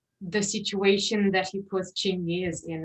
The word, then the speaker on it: Chingiz: am I pronouncing it Yeah. correctly? Yeah. All right, so Chingiz was, yeah, he was a complex character, but then it was only him.